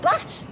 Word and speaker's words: baht: It came from Thailand, as you very well know, and it cost me 500 baht. Yeah, rhymes with tap.